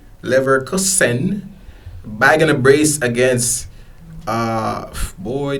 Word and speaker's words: Leverkusen: That's how you pronounce that? Leverkusen? Leverkusen.